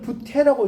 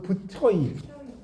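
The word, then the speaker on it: 부톄: 이건 부태라고 읽지 않고 부터이 터이라고 읽어요.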